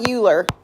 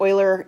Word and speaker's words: Euler: the right color here it's not uler this is Oiler okay so yeah so that's how you pronounce that Oiler can everybody say Oiler